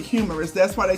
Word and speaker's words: humerus: So the humerus bone is Humerus, but you pronounce it humorous.